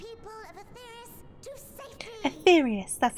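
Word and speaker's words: Etheirys: to Bear the people of aus to safety etherious that's how you pronounce it our time has come my friends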